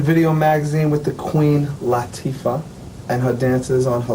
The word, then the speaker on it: Latifah: It's an Arabic name. Is it Arabic? Yes. Oh, my It's bad. Arabic, and it means delicate and sensitive, and it's pronounced Latifah.